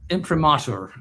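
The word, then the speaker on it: imprimatur: Well, first of all, impremature, that's the way it's pronounced.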